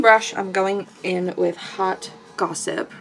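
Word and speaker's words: Haute: I'm gonna go, okay, I think I'm gonna go in with, I think this shade is pronounced Hot.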